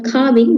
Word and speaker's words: calving: calving so it is We call carving, but L is silent.